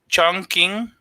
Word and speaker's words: Chongqing: Chongqing. That's how you're saying. Okay. Yeah, it pronounce Q's like K's.